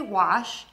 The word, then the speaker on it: wash: The words are wash, to clean with water, and watch, a clock that you wear. To say these words correctly, focus on the final sounds, sh and ch.